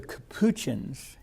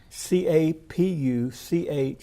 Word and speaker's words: Capuchins: Then there was I believe it's pronounced the Capuchins, Capuchins, the Capuchins.